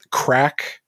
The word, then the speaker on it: craic: So, have you ever heard the term crack? Like, it's spelled Craic, and it's in a sentence.